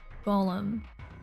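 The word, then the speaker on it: GOLM: which is of course Golem much to his surprises ends up being pronounced like Golem anyways on a side note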